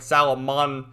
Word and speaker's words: Salamandamon: Salamandermon, but they call it like Salamandamon. It's weird how you pronounce it, but whatever.